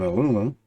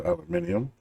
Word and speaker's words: aluminium: Gather up an ingot each of copper, iron, and aluminum, or aluminium, however you want to pronounce that.